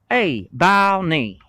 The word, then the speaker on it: Abilene: It's pronounced Abilene.